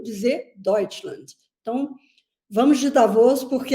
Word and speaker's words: Davos: Eu prefiro Davos, eu acho que é a pronúncia, que seria a pronúncia em português de Davos. Davos é como se fala em alemão, então é a mesma